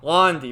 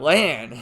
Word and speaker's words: Lan: characters are calling him lan it's not so i'm getting so damn confused because i know it's pronounced lon that's like the way you would pronounce it but there's other characters